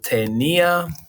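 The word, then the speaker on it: tenía: first we have yo tenia i'm going to write a little pronunciation so it's hey me ah right so hopefully that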